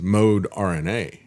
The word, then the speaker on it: Moderna: fact that's you know Mona uh the way you they originally pronounced it was mode RNA just so you understand